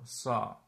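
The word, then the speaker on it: sağ: So this is effectively pronounced as da. Okay? Da. Da means mountain. Da. Or sa.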